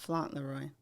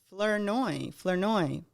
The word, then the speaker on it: Flournoy: Flaunroy. Not Fauntleroy. It is Angela Flournoy. I'm just pronouncing it bad. Like I can't say it. It's Flournoy. Flournoy.